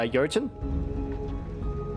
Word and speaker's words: Jotun: anything yeah apparently it was pronounced uh yojin I think it's like an old Germanic God we pronounced it as